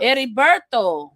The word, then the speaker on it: Heriberto: Heriberto, because the H is silent in Spanish, says you're the we appreciate it.